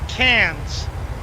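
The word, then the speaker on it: Cairns: ah all right so so now canes cans pronounced cans why is there an i r and an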